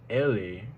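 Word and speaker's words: elle est: next week next on the list we have Ellie which means she is and it's spelled e-l-l-e space EST be careful not to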